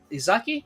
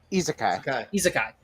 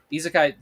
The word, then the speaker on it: isekai: The new Suicide Squad, Izaki, is that how you say it? Isekai. Isekai. Suicide Squad Isekai is gonna be, I believe, coming to Max, if I'm not mistaken.